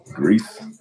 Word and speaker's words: Gris: I think that's how you pronounce it. Grease. Grease. Grease.